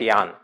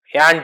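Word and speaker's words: Jahn: Some call it John but uh some call it Yan. J is silent. Uh so we call it Yan Taylor distortion. Those who are not familiar they call it John Taylor distortion.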